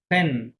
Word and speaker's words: prennent: pone, nous prenons vous prenez il ponen, prennent কি হবে il prennent এই যে ওএন তে সাইলেন্ট হ্যাঁ e o n t আছে, right, সাইলেন্ট এই যে তাহলে এটা ভুল হবে হয়ে যায়।